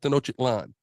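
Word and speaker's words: Tenochtitlan: and ancient capital of Tenotic Lan. Right? That's how you say it, brother.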